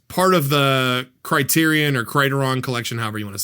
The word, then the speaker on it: Criterion: It's It's Criterion. I looked it up.